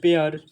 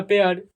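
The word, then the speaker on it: pair: लिखिए पेयर क्या होगा पेयर ठीक क्यों होगा पेर जब किसी वर्ड में ए आई के बाद आर आ जाता है तो इसी ए आई को ए प्रोनाउंस कर दिया जाता है क्या कर दिया जाता है इसी ए आई को ए पढ़ा जाता है यह बात को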